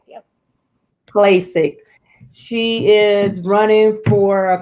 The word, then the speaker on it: Klacik: Klacik, yep. Klacik.